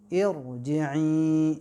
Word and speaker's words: Irji'i: Yaitu ternyata tetap tebal ro-nya walau kita bacanya dengan vokal I. Karena hamzanya hamzah wasol gitu. Irji'i gitu. Masih ingat dulu rekaman? Dianggapnya tipis karena dia vokal I. Nah, alasannya tebal itu karena hamzah wasol.